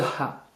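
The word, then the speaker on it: ح: Lettre suivante, le ha. C'est un H expiré très prononcé. Ha, hi, hu. Le ha. Ha, hi, hu. C'est pareil, vous expirez sauf que vous raclez un peu le fond de la gorge.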